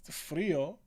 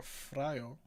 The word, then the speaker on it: frío: How do you pronounce I in Spanish? E. Oh, so it's frío. Frío. Or is it friolento? E in Spanish is E.